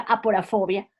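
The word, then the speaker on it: aporofobia: fobia o que es se pronuncia a por a fobia haciendo profundo énfasis al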